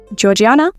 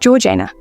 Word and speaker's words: Georgiana: Georgiana, technically pronounced Georana, though I hope you'll forgive me if I occasionally use the version that sounds more familiar to our ears, was born at Althorp